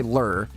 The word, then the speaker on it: lure: fishing lore right but British people say lur right we say lore you say lur but people are so